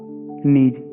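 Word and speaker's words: knees: कविता कीप्स, के कविता कीप्स the kittens on द नीज, इसमें जो है वो की आपका साइलेंट रहेगा, नीज आपको बोलोगे इसको, तो ये सब के से ही बने हैं सारे के सारे।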